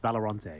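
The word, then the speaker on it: Valorant: Leader he's returned from valerant he's rejoined the Counter-Strike ranks believe it's pronounced valeron sorry yeah I have I have been messing up that pronunciation for some time I'll work on it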